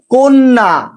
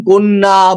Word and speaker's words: কন্যা: শব্দের শুরুতেই অ এর পরে জফলা যুক্ত ব্যঞ্জন বর্ণ থাকলে, যেমন দেখো যুক্ত ব্যঞ্জন আছে এখানে, ঠিক আছে, যেমন কন্যা, বন্যা, অত্যাচার, সেক্ষেত্রে অ এর উচ্চারণ তোমার প্রায়শই ওকারের মতো হয়, যেমন অত্যাচার।